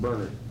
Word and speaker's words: Bernard: Please pronounce it Bernard.